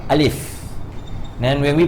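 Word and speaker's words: ألف: So when we pronounce alif, we pronounce with fa. We don't say alif, alif, alif. We pronounce with fa, alif.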